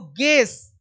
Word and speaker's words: guess: ये देखो गेस, you silent है, अनुमान लगाना, गेस करो, व्हाट, गेस व्हाट, तो GUESS।